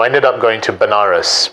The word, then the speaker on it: Banaras: ended up going to banaras which is a place in india sometimes pronounced as vanaras which is a place